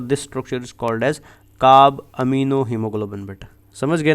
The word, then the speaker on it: carbaminohaemoglobin: And this complex is pronounced as carb amino हीमोग्लोबिन, ठीक है।